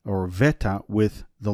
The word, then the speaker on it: beta: And the reason that is the way that it is because the ancient Greek and the Koine, the beta was not pronounced as a B, but as a V.